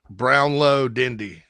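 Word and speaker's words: Brownlow-Dindy: supposed to visit Gabriel is it Gabriel brownley dindy is that is that how you say it I think it's brown Low brown low dindy yeah dun dun dendy um Lakeland Florida of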